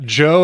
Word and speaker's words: Jeau: Yeah, Joe as in like spelled like go, like a Cajun style.